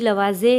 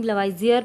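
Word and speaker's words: Lavoisier: और वैसे तो केमिस्ट्री के फादर कंसिडर किए गए एंटोनी लवाजे या एंटोनी लवाइजियर, प्रोनाउंस हम कर सकते हैं।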